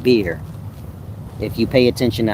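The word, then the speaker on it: Buer: So the demon is called bore, b u e r, but it's really pronounced beer.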